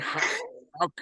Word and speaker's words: Schalk: Until we meet again at the mighty Eupheus shooting range in Schalk. Is that right? Schalk. Is that how you pronounce it?